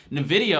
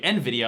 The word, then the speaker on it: Nvidia: down down because again Nidia or I'm sorry Nvidia I always often pronounce it wrong but Nvidia did very